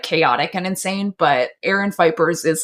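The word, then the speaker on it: Aaron Phypers: That's how you pronounce her insane fucking husband, Aaron Fipers.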